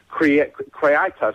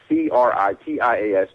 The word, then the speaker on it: Critias: People who know this have researched Atlantis, but Critas, I can't say it right, Critias.